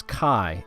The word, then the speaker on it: chi: This character X is chi, and it is pronounced like a hard CH, almost like you're clearing your throat.